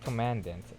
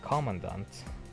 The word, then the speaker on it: Commandant: I kept saying it Commandant. It's when it's actually pronounced as Commandant.